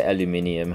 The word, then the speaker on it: aluminium: steel so we say we say aluminium i guess the the us we're pronouncing as aluminum so i can